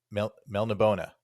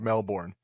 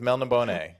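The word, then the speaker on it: Melniboné: I always did it just straight up like Australia. Like I just made him Elric of Melbourne.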